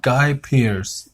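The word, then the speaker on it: Guy Pearce: name is Gaia Pierce everything I tell you pronounce it guy Pierce guy Pierce or excuse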